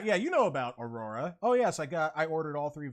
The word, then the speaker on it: Araura: So it's spelled A-R-A-U-R-A. It's pronounced Aurora, but if you look at it, you could honestly pronounce it as like Araura instead of saying like Ara, but it's like Araura.